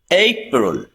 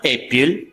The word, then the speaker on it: April: April. Not April. Some people say April, but we say April.